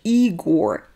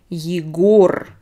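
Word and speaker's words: Егор: and pronounce it like igor it's not correct because they are two different names so this is eager e is stressed this is the name yigor o is stressed so it's two two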